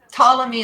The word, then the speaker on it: Ptolemy: So Ptolemy is spelled with a P? PT. Okay. Yeah. Ptolemy.